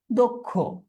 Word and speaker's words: দুঃখ: দেখি দুঃখ এই দুঃখ আমরা এটাও জানি অধনির পরবর্তীতে যদি ষিয় এইটা থাকে তখনও অ এর উচ্চারণটা কি হয়ে যায়? ও এর মত হয়ে যায়। তাহলে এটার উচ্চারণটা কি হবে? দক্ষ।